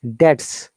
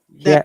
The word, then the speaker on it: debt: Debts. Debt. Yes. Debt without what? B is silent here.